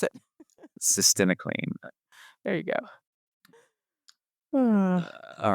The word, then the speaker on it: Cytisinicline: You got to learn how to pronounce it. Cytisinicline.